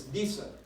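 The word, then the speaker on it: Disse: now and I am an expert in German pronunciation and so it's visa not to say I just had to get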